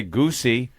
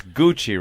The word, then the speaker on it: Gucci: name goochy goochy yeah you wouldn't say goosey or gooshie it's Gucci right would say Gucci so knowing that now